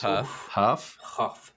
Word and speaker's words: Hough: It's Julianne Ho. I'm sure that's not how it's Huff. But it's spelled like with a GH at the end, right? Yeah. Kind of like so cough.